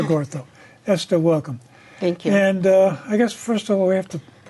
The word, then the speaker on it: Ngotho: You don't pronounce the N. So it's Esther Ngotho.